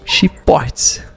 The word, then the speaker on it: Schiphorst: Para não esquecer, eu escrevi como se lê mesmo, Chiportes. Botei um botei um X e portes mesmo para poder pronunciar.